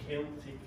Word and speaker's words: Celtic: We would be called Celtic with a hard C.